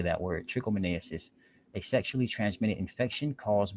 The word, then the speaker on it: trichomoniasis: trichomoniasis that is how you say that word trichomoniasis a sexually transmitted infection caused by a parasite